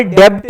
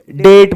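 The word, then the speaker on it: debt: कर्ज होता है और यहां पर डेप्ट नहीं डेट बोलते हैं इसको बी साइलेंट यर रीन लोन को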